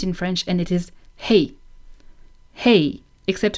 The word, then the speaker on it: hey: You can use it in French, and it is hey. Hey. Except a lot of French people are not pronouncing the H, so it would be something like eh.